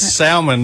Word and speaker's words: salmon: putting the L in it. That's salmon.